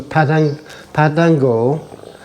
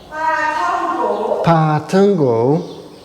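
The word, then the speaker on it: ปาท่องโก๋: to pick up some padango. Pookie? Yeah. Pookie? Help me with the pronunciation. Padango. Seems strange pronouncing something like that with that inflection in the voice.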